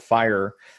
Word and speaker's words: FHIR: of a new date standard called fire that's how fhir is pronounced that will supersede or